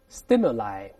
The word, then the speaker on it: stimuli: 再读一下复数 stimuli，也是发的 i 这个声音，刺激物